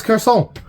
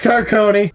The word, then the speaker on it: Garceau: for that is because I thought his name was, it had like a French pronunciation to it, so I was like, oh, it's Garçon. It's like, no, it's not, it's Carcone.